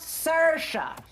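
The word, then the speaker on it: Saoirse: hello I am Sasha s-a-o-i-r-s-e it's pronounced Sasha and I do not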